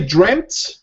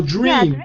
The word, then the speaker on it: dreamt: So we can say dreamt or dreamed. Dreamed. Dreamed. So we can say dreamed or dreamt.